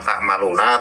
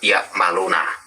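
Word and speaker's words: تعملون: Nah, di situ kesalahan fatalnya adalah dalam melafazkan takmaluna. Di situ yang benar adalah takmaluna. Tetapi Habib Umar Hafid ini membaca ya maluna.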